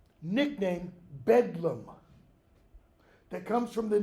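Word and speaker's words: Bedlam: day being called nickname bedum that comes from the name Bethlehem its pronunciation was just shortened because the th was the bethleem betham became a d okay the caretakers the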